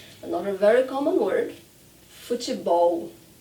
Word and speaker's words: futebol: Another very common word, futebol. Futebol. And in some parts of Brazil, we pronounce futebol. So I do ti, te, futebol, futebol, but at the end, it's that L that we're practicing now.